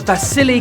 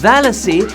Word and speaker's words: Vasily: Question about Vasily Kandinsky, whom I heard myself mispronouncing as Valasy and then still made a joke about his name having silly in it.